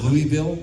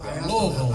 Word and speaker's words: Louisville: And you said Louisville? No, Louisville. I asked, how do you pronounce it before I say it?